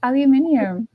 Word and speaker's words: aluminium: It's aluminium.